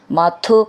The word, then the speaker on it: മധു: നന്നായിട്ട് ഉറപ്പിച്ച് പറയാനുള്ളതാണ് തപസാ മധു കാനനാന്തേ മധു ധു എന്നുള്ളത് നന്നായിട്ട് ഉറപ്പിച്ചു പറയണം കാനനാന്തേ നാണന്തേ കാനനാന്തേ അങ്ങനെ നിർത്താം